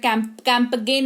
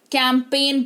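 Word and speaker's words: campaign: रही है, जागरूकता कैंपेन चला रही है, इसलिए कैंपगेन नहीं कैंपेन पढ़ते हैं इसको, ठीक है? अब बात करेंगे कि एच कब साइलेंट होता है।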